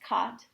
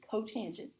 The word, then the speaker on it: cotangent: and then makes sense cotangent is c-o-t not to be pronounced caught it's cotangent uh of theta is you